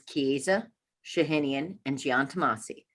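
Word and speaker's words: Chiesa Shahinian & Giantomasi: to say csg but the firm name is kiza shahinian and giantamasi jeff kieza used to be with the christie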